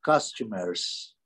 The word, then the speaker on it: customers: E customers. Customers, o acento é na primeira sílaba.